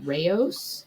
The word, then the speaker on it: Rao's: Same thing happened with, I'm going to mispronounce this. Is it Rao's spaghetti sauce? Yeah, it's Rao's.